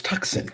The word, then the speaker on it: Tucson: is it called Tucson it's spelled tuxen I don't know ask the people that named it this the the sea is silent it's tuxen oh my gosh okay